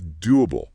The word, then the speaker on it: doable: Sometimes when we pronounce words ending in after a vowel sound like the oo and do, a tiny ooh sound, a glide slips in to help the transition. It just smooths it out.